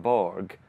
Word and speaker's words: Borg: So the great tennis player Björn Borg. In Swedish, how's his surname pronounced then? Björn Borg. Borg. Borg.